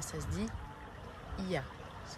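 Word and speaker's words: Oia: Non, ça se dit pas Oya, ça se dit Ia. On prononce pas le O.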